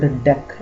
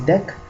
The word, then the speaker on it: deque: Okay, then the next concept is dequeue, also called dec. It is pronounced as dec, double-ended queue actually, a queue in which the insertions and deletions can be done on both the sides.